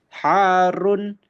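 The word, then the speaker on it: حار: Harun. Harun. Nah, cara membacanya seperti itu.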